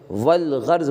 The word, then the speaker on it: والغرض: الف کا تلفظ نہیں ہوگا، البتہ لام کا تلفظ ہوگا۔ جیسے والغرض بولیں گے، کیا بولیں گے، والغرض، یہاں پر